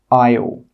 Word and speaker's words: isle: The letter S is normally not pronounced when it's before an L. Some example words are isle, island, isle. In all of these words, we're not pronouncing that S sound. It is a silent letter.